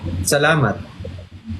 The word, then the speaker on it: salamat: Salamat. Salamat. Yes, that's it. Is it too short? It's too simple. Yeah, it's too simple. It's just salamat. Oh, salamat. Yes, that's how you say it.